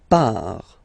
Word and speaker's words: part: Il, elle, part. Final T not pronounced.